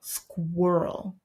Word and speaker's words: squirrel: no we it's whoa it's a much deeper sound in the mouth whoop squirrel we have bird what